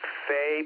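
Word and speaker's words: Faix: Ted, I think you pronounce his last name Fay, perhaps, F-A-I-X.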